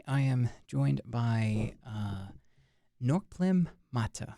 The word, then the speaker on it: Norkplim Mattah: but for today I am joined by uh norlem Mata right that's that's pronounced all right that's good so so um